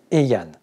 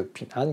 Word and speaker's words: Heian: dénomination va changer, et désormais Pin'an va s'appeler Heian, qui sera une prononciation beaucoup plus japonaise, plutôt que Pin'an, qui est une prononciation beaucoup plus chinoise.